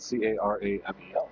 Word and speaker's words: caramel: Cuz this is spelled C A R A M E L if I'm not mistaken. It's caramel. Right. There is an A in there.